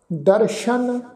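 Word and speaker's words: ਦਰਸਨ: ये जिहड़ा शब्द आ दद्दा रारा सस्से पैर बिंदी लगा के फिर अगे अखर आ जी नन्ना इहदा उच्चारण करांगे दर्शन, ठीक है जी इनू दर्शन इस ढंग नाल उच्चारण नहीं करना।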